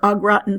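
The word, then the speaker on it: au gratin: pronounce that if you need to spell it phonetically meaning if I need to put oh gee rotten for a gratin potatoes that's okay nobody sees this but the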